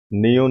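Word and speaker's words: ㄴ: ठीक है, के बाद है नियोन, नियोन नून की आवाज देता है।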